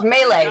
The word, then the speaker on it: melee: Because there's a bit of a thing in the chat about how to pronounce It's melee. Melee is a word.